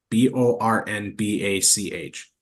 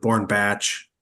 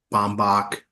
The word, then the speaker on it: Bornbach: always question how somebody could pronounce our last name wrong b o r n b a c h how do you pronounce it wrong like to me it's like bornbach you get born batch some people call it bomach because the r